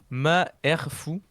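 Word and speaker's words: Malfoy: en Mandarin du coup le nom Malfoille se prononce ma R fou.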